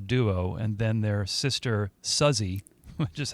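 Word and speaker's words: Suzzy: It's a it's a trio of sisters, Maggie and Terry, who started out as a duo and then their sister Suzy, which is how it's pronounced, joined later.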